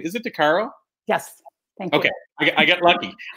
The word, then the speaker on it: Decaro: I should have asked you this previously but pronunciation of your last name is it Dar Caro yes thank you okay I get lucky I'm